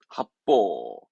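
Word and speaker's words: 発泡: 발음은 합보합니다. 합보.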